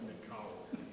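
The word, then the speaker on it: νικάω: But it's pronounced Nikao. Correct, yes.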